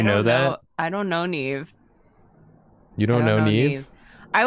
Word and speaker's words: Neve: Somebody asked about how Neve's name is spelled. It's just N-E-V. Mm-hmm. Which you would think was like Nev. But it's Neve.